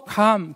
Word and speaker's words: 감: 지금도 감, 길게 발음하지 않습니까? 먹는 감입니다. 먹는 감. 이거 짧게 발음하는 분은 이 틀린 방언 하시는 분이에요.